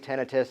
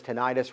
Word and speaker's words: tinnitus: Because I work with people there's different pronunciations in different communities, tinnitus, tinnitus, ringing in the ears.